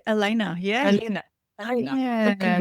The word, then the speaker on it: Alena: Well, Hello, Alena or Alena? How do you No, you got pronounce it right, Alena.